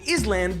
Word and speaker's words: island: For example, old English island turned into is land because of the French word is. Fun fact, is turned into il, whereas in English we still have the s, but we pronounce it island.